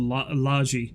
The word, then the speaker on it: Logie: But most things like that, I always heard it pronounced Logie Bay Road as... Logie is called Laji, yeah.